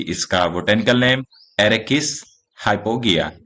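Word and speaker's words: Arachis hypogaea: सो तो हमने जैसा जाना कि इसका botanical name एरेकिस हाइपोगिया, spelling ARACHISHYPOGAEA, हाइपोगिया।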